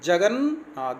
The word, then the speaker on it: जगन्नाथ: उज्ज्वल, जगन्नाथ, देखो जगन्नाथ, जब सही बोलते हैं 2 बार ना आ रहा है।